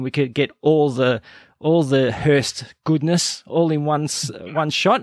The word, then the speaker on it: Hirst: You can just Google the Hirst Brothers. It is spelt Hirst, H-I-R-S-T. It's like first, but with an H.